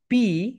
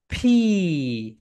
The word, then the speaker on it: P: এটাকে আমরা বলি পি। এটাকে আমরা কি বলি? পি। কিন্তু এটা right pronunciation is ফি। Upper lip lower lip ঠাস টুগেদার। সবাই বলে এটাকে ফি, ফি, ফি।